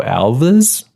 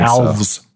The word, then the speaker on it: Alves: 3d directed by Joe Alva's we're joking olives yeah something like that or have like rhymes with halves yeah like yeah like